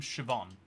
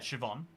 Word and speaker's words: Siobhan: it's uh have you ever heard the name shoban CH if you have heard the name I just said Siobhan uh if you've never if somehow this is